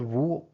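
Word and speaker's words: 無: So the word Wu, I guess, became Mu in Japanese. So Japanese then speaks of Mu, while the original Chinese pronunciation of the word was Wu.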